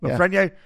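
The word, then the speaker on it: Lafrenière: Yeah, Lafreniere.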